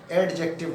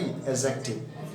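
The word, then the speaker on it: adjective: एडजेक्टिव, एडजेक्टिव नहीं, एडजेक्टिव, D silent होता है।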